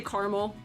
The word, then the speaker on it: caramel: They're like, why do you say caramel like it's one syllable? Caramel is 3 syllables.